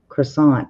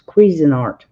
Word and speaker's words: Cuisinart: And Crazy Irish says, honey, that's not croissant. That's Cuisinart.